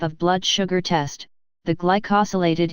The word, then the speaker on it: glycosylated: blood sugar test the glycosylated hemoglobin pronounced g ly koh sill a tid hemoglobin and also known as